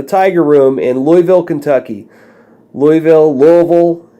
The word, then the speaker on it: Louisville: Louisville. I don't know how you pronounce it where you're from. The locals pronounce it Louisville.